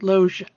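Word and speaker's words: Loggia: of syes uh Robert loia is that how you pronounce his name it's r as in Robert Loa Lo thank you oh as in oh my God that's Robert loia sorry all you family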